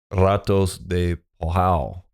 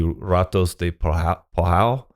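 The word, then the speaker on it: Ratos de Porão: And in a lot of situations, the R is pronounced like how we would pronounce an H, right?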